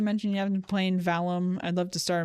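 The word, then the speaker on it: Valheim: No, it's not Valorant. It's, Valum. Valum? V-A-L-H-E-I-M. Victor, Alpha, Lima, Hotel, Echo, India, Mike. Valum. Yeah, no, I might have said it wrong.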